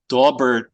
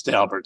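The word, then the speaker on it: Daubert: dalbert which you correctly pronounced uh is frequently mispronounced as dobert or even by some stobs as do bear but Mr dalbert says his name is dalbert so I'm very glad you got that correct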